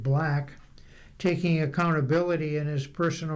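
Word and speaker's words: 6LACK: The resulting album sees Sixlack, he pronounces it Black, taking accountability in his personal relationships as a major theme.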